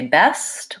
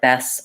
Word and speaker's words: best: school stay space etc at the ends of words like last or past or best watch out for that T dropping off sometimes people will try to say best or past and it'll sound more like Bess or pass so make sure when